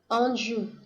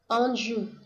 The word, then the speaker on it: Anjou: 이게 앙주가 불어니까 이 제대로 된 발음을 한번 들어보시죠. Anjou, Anjou, French.